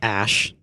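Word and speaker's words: Æ: pronounce it it's like ash well like part of it is Ash like the AE that's Ash but then there's also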